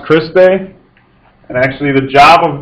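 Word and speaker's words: cristae: cellular respiration starting off with this first word pronounced christe and actually the job of this part of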